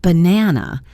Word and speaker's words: banana: For example, in the word banana, the stress falls on the second syllable, ba na.